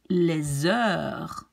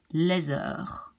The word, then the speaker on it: les heures: we take this one, les heures, so the H goes away, and then, well, the next one is a vowel, so we have to link this S to the vowel. So this we pronounce les heures.